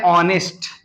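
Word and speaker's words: honest: इसको पढ़ते हैं ऑनेस्ट। एच साइलेंट है, एच को नहीं पढ़ रहे हैं, इसमें भी एच को, इसमें भी एच को नहीं पढ़ रहे हैं।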